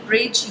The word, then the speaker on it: bridge: इसके अलावा BRIDGE ब्रिज या BUDGET बजट, इसमें जैसे डी साइलेंट है, जहाँ पे डी और जी साथ आ रहा है ब्रिज, बजट, फ्रिज, उसमें जब जी साइलेंट होता है, सॉरी डी साइलेंट होता है।